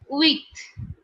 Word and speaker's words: huit: number is eight and eight in french is written down is huit which is pronounced as wheat wheat okay width width width